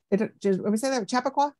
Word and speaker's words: Chappaqua: Chappaqua, New York?